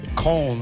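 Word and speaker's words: Köln: fabulous canteen club uh that's in col or or as we Americans say Cologne um I don't know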